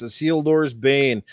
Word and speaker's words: Isildur's Bane: Now I pronounced it right because once he gave me the reference to Lord of the Rings, and then I knew it's Isildur's Bane.